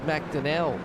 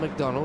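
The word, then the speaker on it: McDonnell: pronouncing McDonald yeah mcdonell not McDonald it's mcdell I I think I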